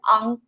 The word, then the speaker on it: 昂: 所以 Mia 说安和 on. The first one is an, the second one is on, yeah. This sound, I know this sounds so similar, but we pronounce it differently, and they mean totally different things.